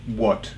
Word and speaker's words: what: se dice qu qu What que no es What como decimos What la a se pronuncia como una O no casi o o what como si fera una